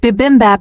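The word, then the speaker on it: 비빔밥: With bibimbap and everything.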